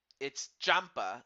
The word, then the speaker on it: Ciampa: So anyway, to pronounce this young man's last name, it's Champa, like as in a champa, like champ but Champa.